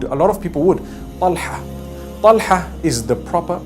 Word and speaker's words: Talha: Talha is the proper pronunciation.